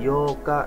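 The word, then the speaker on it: 八日: 7 nanoka tanggal 8 Yoka nah ini harus antara tanggal 4 sama tanggal 8 pelafalannya harus jelas kalau tanggal 4 tadi apa Yoka ya double K kalau tanggal 8 Yoka jadi panjang vokal o-nya Yoka tanggal 9 kokonoka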